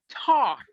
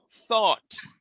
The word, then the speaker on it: thought: It's not taught. Taught is different. Notice that my tongue does not come between my top teeth and my bottom teeth.